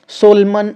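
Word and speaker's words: solemn: सबसे लास्ट वाला एन तो हम लोग नहीं पढ़ रहे हैं। तो यहाँ पे ये एन ही जो है वो क्या हो जाएगा, वो साइलेंट हो जाएगा, क्योंकि इसको हम लोग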